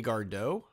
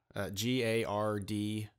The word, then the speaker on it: Gardot: It was Melody Gardot, G-A-R-D-O-T. I think it's Gardot, kind of like Stephen Colbert.